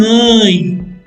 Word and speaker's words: œil: Pronounce un œil, O-E-I-L.